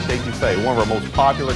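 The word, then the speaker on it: étouffée: I want some estouffee with crawdads. What Bubba's trying to say is crawfish etouffee, one of our most popular Cajun dishes.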